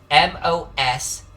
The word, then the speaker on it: Moszna: This is how it's spelled. Moszna.